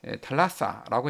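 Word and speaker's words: θάλασσα: 있었죠 예를 들어 이제 바다라는 말을 그리스어는 이제 달라사라고 이제 발음을 하는데 아테네 사람들은 이걸 갖다가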